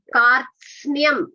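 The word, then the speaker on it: कार्त्स्न्यम्: Kara should be heard first. then ta, then sa, na, and ya. Kartsnyam, Kartsnyam.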